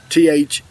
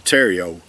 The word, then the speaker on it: Theriot: Terrio, T-H-E-R-I-O-T, I think is the way you pronounce, or the way you spell his name. It looked like Theriot, but it's actually Terrio.